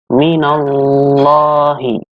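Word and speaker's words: مِنَ اللّٰهِ: Yang berikutnya ada bacaan tafkhim lam jalalah Allah. Artinya dibaca tebal. Kenapa tebal? Karena lafaz Allah di sini, lam di sini, sebelumnya ada huruf yang berharokat fathah. Maka dibacanya tebal.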